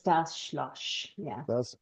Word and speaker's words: Schloss: So you're pronouncing it like sh, but it's just S.